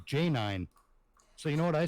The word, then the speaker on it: Janine: time ran into her she spelled her name j-a-n-i-n-e okay what does that sound like it spells to you j-a -a-n -i Janae Janine Janine okay j-a-n-i-n-e no uh yeah she she told me it was pronounced j9 so you know what